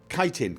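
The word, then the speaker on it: chitin: Kiting. Kiting. Yes, it's kiting. A kiting. Yes. It's not chitting. It's kiting.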